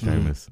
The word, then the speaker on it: Jameis: We're talking about famous Jameis, rhyme with famous Jameis over Christian McCaffrey and the Carolina Panthers, who I think will have the higher points.